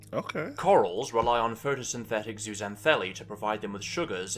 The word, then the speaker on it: zooxanthellae: It just sounded like Zootopia, but I said the exact same thing he said.